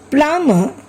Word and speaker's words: plumber: Plumber, subtle. Here also B is silent.